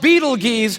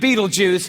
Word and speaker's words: Betelgeuse: It's called Betelgeuse or Betelgeuse. You can pick your pronunciation. I'm obviously going with Betelgeuse.